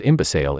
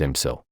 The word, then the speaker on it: imbecile: to take that as your answer because we pronounce the word as imbe in Nigeria while the actual pronunciation is imsil to overcome this trick this guide has collected